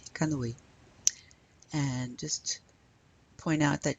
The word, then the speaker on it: canoë: Le canoë. Notice that the two dots above the E is called the tréma. Means we pronounce those two vowels separately. So we say O and then E, canoë.